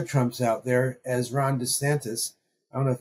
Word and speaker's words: DeSantis: I don't know if it's DeSantis, DeSantis, DoSantis, DoReMeSantis. But anyway, according to Donald Trump, it's DeSanctimonious. Yeah. But NPR says DeSantis. So if anyone knows, it's going to be NPR and how to pronounce something.